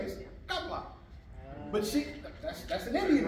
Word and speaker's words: Kamala: Her name ain't Kamala. See, they sistified. They sistified. Her name ain't Kamala. Her name is Kamala.